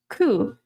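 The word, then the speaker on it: く: The number 9, ku, sounds like suffering.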